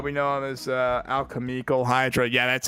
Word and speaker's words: Alchemical Hydra: and like alchemyal cuz I used to say alchemyal hydra. They're like, "No, it's alchemical hydra."